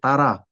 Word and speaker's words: Tara: But when you say Tara, that is a long A, so it should be Tara, not Tar.